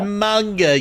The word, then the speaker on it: manga: It is pronounced manga, you pleb.